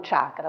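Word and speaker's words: चक्रम्: all'etimologia del la parola in effetti dovremmo dire chakram e non Chakra Ok nel linguaggio quotidiano possiamo dire anche Chakra ma il termine reale è chakram dalla radice chak chak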